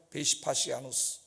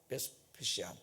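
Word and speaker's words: Vespasian: 그때 로마 장군이 베시파시아누스, 영어 발음으로는 베스페시안 이런 사람인데, 나가서 나갈 길이 없잖아.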